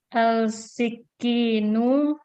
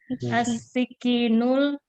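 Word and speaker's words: السكين: Al-sikinu. Baik, ini syamsiyah. Ini syamsiyah, makanya kita bacanya langsung as. As-sikinul kabiru haddun jiddan.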